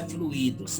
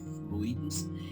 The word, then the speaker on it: fluidos: Gente, não é fluidos, tá? Eu olhei no dicionário, a pronúncia certa é fluidos, é fluídico, então tem muita vertente, tem muita coisa para ser falada.